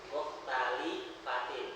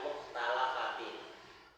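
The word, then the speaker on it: مختلفات: Nah, lamnya dikasrah ya. Muhtalifatin, bukan muhtalafatin.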